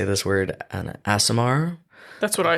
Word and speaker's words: Aasimar: And then let's see, his mother figure is I never know how to say this word, an Aasimar. That's what I say. Okay. An Aasimar named Weonvi, and she looks like a falcon.